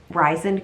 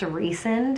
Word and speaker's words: Rysand: them about, to that Rysand guy, which that's what I'm going to pronounce it. Apparently it's pronounced Rysand or Rysand, but I think that sounds really dumb, so I'm just calling it Rysand.